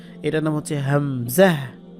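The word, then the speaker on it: ء: এটার নাম হচ্ছে হামজাহ। হামজাহ উচ্চারণ কিন্তু ওই আলিফের যা ছিল তাই। এই যে আলিফে যেমন আ ই উ, তার নাম হচ্ছে হামজা, বাকি উচ্চারণ হামজা জবর আ, আ ই উ এরকম হবে।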